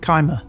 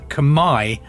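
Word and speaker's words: Khmer: chunk of hundreds of years the CH Empire kimer I would have said Kim normally um but I've seen that Kamai or k is the correct way of pronouncing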